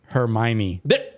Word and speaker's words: Hermione: Uh Ron and Hermione.